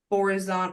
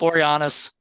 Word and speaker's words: Boreanaz: So, Oh, in the movie that I thought Angel David Borazon, what I can never pronounce. Boreanaz.